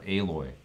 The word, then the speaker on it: Aloy: No, I think it's alloy. Yeah, that makes sense because of the metal theme of the game, right? Or Aloy. It's Aloy. It's different than the way it's spelled. I remember that.